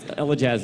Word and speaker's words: Elajjaz: You say his name right first if he's going to be a Desert Island streamer. No, it's Elajjaz is correct.